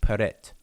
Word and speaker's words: prt: these three glyphs here are transliterated as prt and we uh pronounce it with uh each logical uh pronunciation with paret all right these three